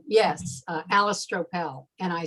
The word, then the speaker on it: Stroppel: My name's hard enough to pronounce, so Julie can tell you. You know, it's Stroppel, Stroppel, whatever, you know. And when I went to Sandy Camp is the name of the retreat out in California. And I was rooming with Misha, and we were checking in. And of course, everybody had this big discussion about how do I pronounce my name, Stroppel, yeah. And it is Stroppel.